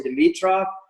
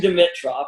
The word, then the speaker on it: Dimitroff: It must be my brother / the Canadian pronunciation of Dimitroff that you guys all say Dimitroff. Maybe you think that's like the carnivore sort of like tough thing, but it is actually Dimitroff, and I've been battling people all my life with the proper pronunciation of my name.